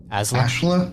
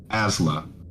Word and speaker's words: Asla: Asla?